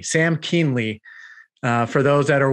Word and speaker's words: Kuehnle: we were talking about how to pronounce your last name it's kinley sam keemley uh for those that